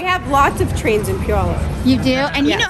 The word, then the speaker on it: Puyallup: all right all right hi i'm marie from puyallup i have lots of trains in puyola you do and you know how to say